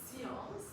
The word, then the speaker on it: science: Science in French we pronounce it science.